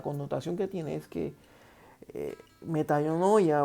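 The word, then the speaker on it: μετάνοια: arrepentimiento viene de la palabra griega que se pronuncia meta no huye y la traducción lo que significa es o lo que es verdad lo que con la connotación que tiene es que metanoia o arrepentimiento es un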